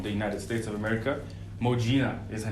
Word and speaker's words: Modjinah: Modjinah is her name.